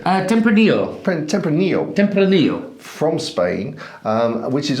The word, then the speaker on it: Tempranillo: about to taste a tempra nilo is how you pronounce it uh tempranillo from Spain um which